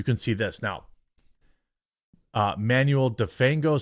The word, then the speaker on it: Manuel: I don't know why every white guy says my name like that. Manuel. Manuel. Because they don't want to be think it's Manuel. They're just like, "But you say it like a white guy."